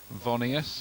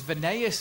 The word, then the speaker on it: Voneus: interesting times in this vonius if that's the way to pronounce it it was venez wasn't it pronouncer said it before we've been saying it wrong guys McKay for delivery